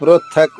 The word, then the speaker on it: పృథక్: ప్రతక్క్ పృథక్ ఒకే పదం రెండుసార్లు రిపీట్ అయింది. థ పొట్టలో చుక్కుంది కాబట్టి థ అనే చెప్పాలి ధ కాదు పూర్తి శ్లోకం మరొకసారి దృపదో